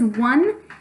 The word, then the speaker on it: one: be bone in this case this word is one it's the number it's got a homophone like